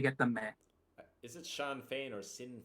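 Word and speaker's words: Sinn Féin: to be sure uh it's pronounced oh it's pronounced Shin fine Shin fine Shin yeah it's it's pronounced Shen fine so it's like kind of fine as in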